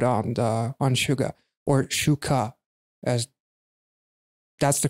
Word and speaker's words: SUGA: is very good on the on suga or shuka as that's the correct pronunciation but in english i believe you can pronounce it as suga anyway i love the long shot it's just